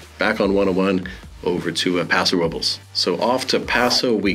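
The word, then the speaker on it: Paso Robles: pronounced pasor Roes uh depending uh where you're from or how long you've been living here it's pronounced both ways if you speak any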